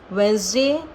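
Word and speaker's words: Wednesday: इन दस four words जो आपका डी है वह साइलेंट ही रहेगा अगेन आई एम रीडिंग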